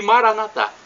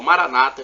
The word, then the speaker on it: Maranata: E Maranatá, como dizemos nós católicos, ou Maranata, como dizem nossos irmãos separados, os evangélicos ou protestantes.